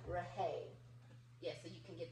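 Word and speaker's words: Rhaye: Not like rain of sunshine. Yes. It's like Rahay.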